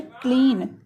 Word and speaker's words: clean: यहाँ पर भी क्या हुआ है कि ई के बाद ए आया है तो यहाँ पे जो ई ए का उच्चारण है बड़ी ई की ध्वनि में है तो हो गया क्लीन।